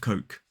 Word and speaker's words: Coke: So for example, in a sentence, I'm going to buy a drink of Coke.